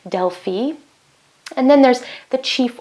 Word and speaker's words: Delphi: There are some famous oracles like the Oracle of Delphi, or as it's actually pronounced, Delphi.